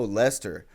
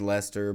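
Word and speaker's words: Leicester: And it's like, oh, Lester, that's inappropriate, too. I apologize if your name's Lester, but you know what rhymes with it.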